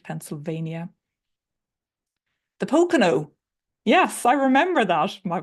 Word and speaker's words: Pocono: well absolutely Christina blessings brothers and sisters from Pono mountains have I pronounced that right Pennsylvania the Pocono yes I remember that my from my time